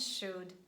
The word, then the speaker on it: should: For example, huff, cuff, pum, bum, walk, talk, chalk, yolk, and could, would, and should. Never pronounce letter L.